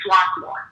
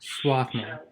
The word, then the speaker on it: Swarthmore: If you're from Pennsylvania, you say Swarthmore. Swarthmore.